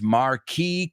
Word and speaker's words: marquee: first time at London's Marquee Club. And that's a good word to know. Marquee is marquesina. Se escribe marquís, marquís, pero se dice marquee.